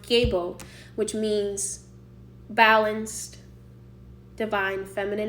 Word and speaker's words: gebo: But the word gay itself, I can attest, comes from the runic word known as, pronounced gebo, which means balanced, divine, feminine energy, balanced relationships.